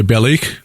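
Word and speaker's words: Balikh: Shanlurfa, Haran, where Abraham made his final departure for the land of Canaan, is on the headwaters of the Belik River. Is that? Did I pronounce that correctly?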